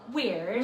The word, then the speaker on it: Wyrd: It's called Weird. Weird. Weird. Spelled with a Y. Like the Weird Sisters.